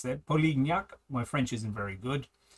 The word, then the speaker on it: Polignac: This guy here is a an exceptional brigade commander, and his name is Polignac, which is French. So, I had to look up how to pronounce that. Polignac.